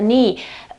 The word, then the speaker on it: knee: Okay, the knee. Obviously, the key is not pronounced in this case, as it always happens when it is at the very beginning of a word.